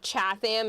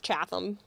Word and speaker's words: Chatham: It's not Chatham, it's Chatham. It's not We were We were We were We were We were Weam, it's Wem.